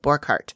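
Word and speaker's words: Borchardt: so you know and it's spelled bor borchard c-o-r-c-h-a-r-d but he pronounces it burkhart yeah and so does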